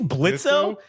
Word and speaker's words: Blitzo: like, "Hey, aren't you Blitzo?" And he's like, "The O is silent, asshole."